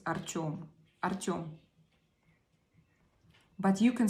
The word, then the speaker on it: Artyom: His, if you pronounce it in Russian, it's Artyom.